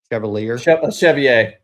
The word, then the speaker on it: Chevalier: So meet Darisa Avilia Cavier, whatever, however you pronounce that. Chevalier.